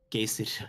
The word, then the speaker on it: Geyser: it's pronounced Geyser by the way. Geyser is the pronunciation. It's Geyser 100%. I trust the person from Iceland.